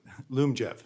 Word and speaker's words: Lyumjev: So that means, I may be mispronouncing it, Lyumjev, how do you pronounce that? Lyumjev.